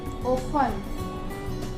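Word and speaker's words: often: For example listen, ओफन, ओफन जो टी है वो साइलेंट हो गया, लिसन जो टी है वो यहाँ पे भी साइलेंट हो गया, ओफन।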